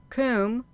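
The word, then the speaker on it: Koom: d-y a immortality comb k o o m pronounced like the well Welsh C denotes something of hollow Kum itself is a cave k o o m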